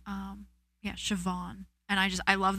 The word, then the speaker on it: Siobhan: Um, Siobhan, but it's spelled S I O B. Either HAN or A N. Um, yeah, Siobhan.